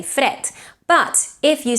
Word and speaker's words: fred: That's why, for example, the word fred is spelled with a D, but is pronounced with a T. It's completely voiceless. You don't say fred.